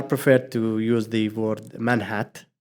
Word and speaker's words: Manhat: to use the word manh hat to pronounce the T instead of making the T silent Point well taken is